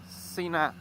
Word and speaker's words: Sena: I always pronounce it like Sena because in my language you will speak that like Sena, and Sena you only say that with a double N, you know, like the F1 pilot Ayrton Senna.